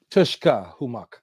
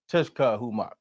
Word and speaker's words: Tushkahumoc: So I do want to pronounce the name Tushkahumoc. Tush. Tushkahumoc. Tushkahumoc. Yes. Okay, yeah. So Tushkahumoc.